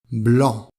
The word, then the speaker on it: blanc: gris noir noir blanc blanc donc la lettre C ne se prononce pas bleu clair bleu foncé